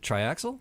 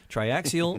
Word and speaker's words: Triaxial: Triaxial Mead Smiths. It's an extra syllable that I don't always pronounce.